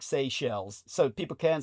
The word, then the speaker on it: Seychelles: Anyhow, so the French pronunciation, because it used to be a French colony, would be Seychelles. So please pronounce it that way. But Americans, you might as well just say Seashell.